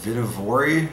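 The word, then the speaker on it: Vihtavuori: is loaded with uh i think it's pronounced vidivori powder uh it's from some scandinavian country i believe and uh everybody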